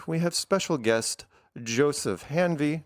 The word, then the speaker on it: Hanvey: And in the lower right, we have special guest Joseph Hanvey. Did I pronounce that right? Hanvey? Yep, Perfect. that's correct.